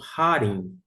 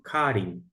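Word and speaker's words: χάριν: Kata, segundo, a minha pronúncia aqui fica como Harim. Outros vão pronunciar como Karim.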